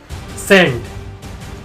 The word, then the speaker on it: scent: Fact number 5, सेंट, SCENT, ये जो word है इसमें एस साइलेंट है या फिर सी साइलेंट है? सेंट, सेंट, सेंट। एस साइलेंट है या सी? That's a mystery.